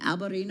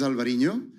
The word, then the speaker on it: Alvarinho: Um I don't want to uh mispronounce Balasto Tanat um Alberino. Alvarinoho. It will start with a with a white wine. Yeah, it's this is Alvarinho.